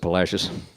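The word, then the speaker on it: Palacios: There's a little town on the Texas coast which I think at one time may have been called Palasios, but the modern day Texans pronounce it Palashius. Only the Virginiaians can outdo us for mispronouncing Spanish.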